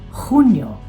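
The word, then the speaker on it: Junio: At dahil J ang first letter ng mga buwan na ito, ang pagbigkas nito ay parang malalim na H. H. Hunyo. Hulyo. Huwag kalilimutan ng hagod.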